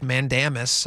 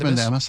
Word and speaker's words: Mandamus: Uh they filed something called a writ of Mandamis. Mandemus. I'm not a lawyer. Uh so I may be mispronouncing Mandis. Mandamus.